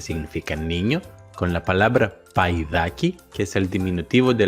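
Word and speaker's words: παϊδάκι: caso se pronuncia ai, paidaki? Esto lo logramos poniendo dos puntitos por encima de la segunda letra de la combinación que indican que las dos letras se tienen que pronunciar separadas.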